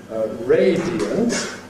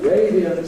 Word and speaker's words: radiant: We've got here the example radiant. Radiant. She had a radiant smile.